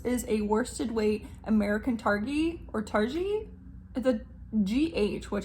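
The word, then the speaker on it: Targhee: Smoke Stack this is a worsted weight American targi or tari a GH which I would think is J but I always hear it pronounced tari either way American targi and Colombian Wool Wool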